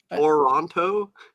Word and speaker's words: Toronto: how do you say that City again please Toronto okay Toronto how do you say it no you're saying it right Toronto Toronto Toronto yeah Toronto Toronto Ottawa if I